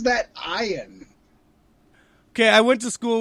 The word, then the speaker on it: Ian: scheringer or whatever and it's spelled ian but he always insists it's iron and it's like you it's ian if you weren't a celebrity it'd be ian why the [ __